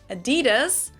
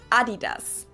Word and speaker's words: Adidas: were referring to, because they usually pronounce it Adidas, and in Germany we say Adidas. Adidas, Adidas. Super different.